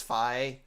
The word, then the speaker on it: Fi: I call her Fee, even though the proper pronunciation is Fi.